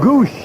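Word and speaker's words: Gwosdz: G WS DZ is the spelling but it's pronounced goose.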